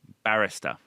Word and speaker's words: barrister: attorney attorney solicitor solicitor Barrister barrister what's that pronunciation Barrister Barrister yeah well just if you get the accent wrong it sounds like they work in Starbucks isn't it is this the